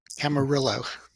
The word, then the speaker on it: Camarillo: They used to write Cama, C-A-M-A, asterisk, Rio. So people like you from out of town could say it right. So it was Cama, Rio. That's funny. Yeah. Camarillo.